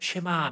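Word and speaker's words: שמע: 9절을 쇠마라고 불러요 왜냐하면 시작할 때 들으라라고 하는이 말이 히브리 말로 쉐마와 명령형을 써서 그렇게 발음이 되거든요 그래서 아마 여러분들도 유대인들의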